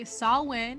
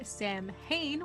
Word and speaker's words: Samhain: anyway and of course he did not say sawwin he said samhain which is s-a-m-h-i-n which i think maybe that's where the spelling and pronunciation error comes to comes about maybe